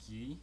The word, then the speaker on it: Gui: name is in portuguese so it's ghee you don't really pronounce the u it says and it's